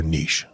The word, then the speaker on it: niche: By the way, do you say niche or niche? And how do you spell it? Niche. But do you say niche or niche? Yes, I say niche because it's cooler.